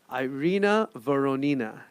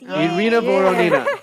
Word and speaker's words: Irina Voronina: So welcome to the podcast, Irina Voronina. Yeah. Did I say it right? You said it right. Irina Voronina.